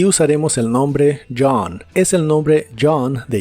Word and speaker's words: John: en la palabra Dj la o se pronuncia como una a profunda y la H es muda John John usaremos la palabra Lost